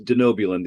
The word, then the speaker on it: Denobulan: able to pronounce denobulan it's denobulan the easy way for me to remember it or for you to remember is to think about you know do know I I don't know